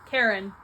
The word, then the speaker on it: Charon: Here we have Charon? Karen. If you know, you know. His name is Karen.